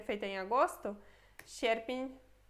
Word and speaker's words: sierpień: Depois temos sierpień.